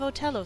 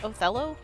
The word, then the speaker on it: Othello: Wait, is it TH? Othello? Othello. Okay. I've been saying it wrong.